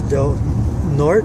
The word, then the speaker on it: Del Norte: So these ladies are going to give me a ride to Del Norte.